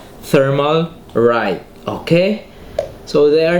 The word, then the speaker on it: Thermalright: Thermalright.